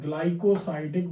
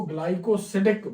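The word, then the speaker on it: glycosidic: तो यहाँ पर इसका आंसर है ग्लाइकोसाइडिक बंध। ग्लाइकोसाइडिक बंध, या इसको ग्लाइकोसिडिक बंध भी बोलते हैं हम इसको। प्रोनाउंसिएशन चूंकि इंग्लिश से हिंदी में लिखते हैं, थोड़ा सा प्रोनाउंसिएशन में अंतर आता है।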